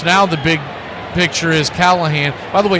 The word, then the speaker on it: Callahan: And, of course, now the big picture is Callahan. By the way, it's spelled with an I, so it's Callahan, not Callahan.